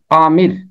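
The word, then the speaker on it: آمر: ہے حکم چلانے والا۔ الف مد آ میم زیر رے، عامر۔ امر یعنی حکم چلانے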